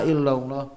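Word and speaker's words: إلا: Nah, jangan ketukar antara ila dengan illa ya. Asyhadu alla ilaha illallah. Ila salah ya. Asyhadu an alla ya. Asyhadu alla ilaha illallah ya, bukan asyhadu alla ilaha illallah, bukan, tapi illallah ya.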